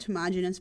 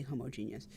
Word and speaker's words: homogeneous: Sometimes pronounced homogeneous, but I usually say homogeneous.